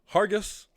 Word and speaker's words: Hargis: Hargis with a hard G.